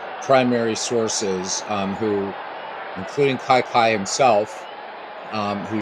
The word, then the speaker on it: Kiki: So for for a lot of years I you know I pronounced Kiki like a lot of people did but it uh Kai Kai is how you say his first name or his nickname I guess.